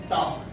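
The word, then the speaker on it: talk: ए और के के दरमियान भी अगर एल आएगा, एल आपका क्या हो जाएगा, साइलेंट हो जाएगा। वॉक, टॉक।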